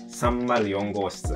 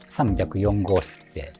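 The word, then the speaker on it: 304号室: Certaines personnes l'interprètent comme « sanbyakuyon goshitsu » (trois cent quatre).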